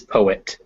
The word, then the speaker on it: poet: yeah put point yeah you want to make sure that poet is two syllables uh some people sometimes uh non-native speakers will poet report uh but it is poet uh yeah uh sometimes